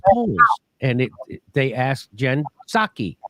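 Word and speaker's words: Psaki: and it they asked jen saki you're not supposed to pronounce the p gensake which is what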